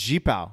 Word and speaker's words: Yipao: Yipao. Jipao. It's Jipao. Jipao. YIPAO. That's how you pronounce it?